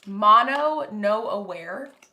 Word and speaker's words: mono no aware: which produces a sensation called Mono No Aware, pronounced Mono No Aware.